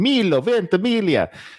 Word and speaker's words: Milo Ventimiglia: I'm so proud I know how to pronounce his name. Milo Ventimiglia.